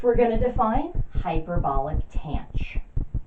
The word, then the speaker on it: tanh: Next, we're going to define hyperbolic tangent, or hyperbolic tangent, which we pronounce Tange.